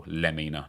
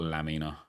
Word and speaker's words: Lemina: Oh, Lemina, not Lamina. Lemina is 6 ft tall, three star, four star, and already has flare and technical as a role. I don't think this Evo of Lemina is a straight one in there.